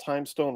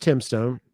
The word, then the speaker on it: Timestone: Tell me about Timestone Records. So Well, Tim is actually pronounced Timstone.